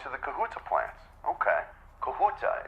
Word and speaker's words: Kahuta: Kahuta, is that the correct pronunciation? Am I saying that right? Yes.